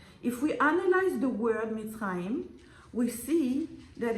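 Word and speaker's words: מצרים: say Egypt shipped in Hebrew it's called mitim mit mit even now nowadays if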